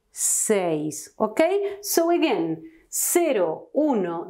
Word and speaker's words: seis: with C never with Q and remember to pronounce correctly this number six says when you have two bowels together in a